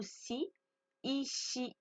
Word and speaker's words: sees: Le S n'est pas une lettre muette en anglais.